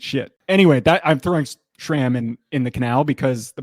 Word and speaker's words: SRAM: What I am going to Canal is SRAM, which, side note, I was also corrected on the pronunciation of SRAM recently because I used the H in pronouncing it. SRAM. Apparently it's SRAM.